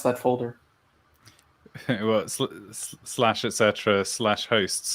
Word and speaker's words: etc: Well, slash etc. slash hosts. Really, you say etc. Is this like a British thing? I've only ever heard it called Etsy.